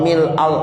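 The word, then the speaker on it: ملء: Sekarang Bapak bacanya yang mana? Mil'u apa mil'a? Ya, nggak usah pada ribut. Dua-duanya benar. Itu yang ngajarin mil'u yang benar. Ya, yang bilang, gue diajarinnya mil'a. Nah, dua-duanya benar.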